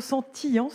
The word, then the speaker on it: sentience: Alors, on prononcera plutôt sentience. Sentience. Ouais. Mais la confusion est fréquente.